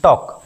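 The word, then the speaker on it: talk: टॉक टी ए एल के टॉल्क नहीं पढ़ते हैं। पढ़ते हैं टॉक।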